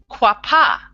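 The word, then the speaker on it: qapah: So qua, okay, and the word for qua is quapa.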